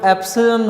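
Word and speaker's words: epsilon: ये जो एप्सिलॉन है इस वर्ड को आपने प्रोनाउंस यूँ करना है, ये ग्रीक लैंग्वेज का वर्ड है एप्सिलॉन, ठीक है, और ये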